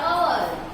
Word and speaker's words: hour: He returned after hours. जहां पे h है वहां पर भी vowel यूज होगा, बट हम h को प्रोनाउंस नहीं करेंगे.